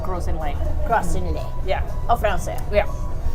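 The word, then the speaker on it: Gros Islet: called gross in length it's gross Inlet is how it's written but it color we call it pronounced it grows in length crostini yeah Oh fancy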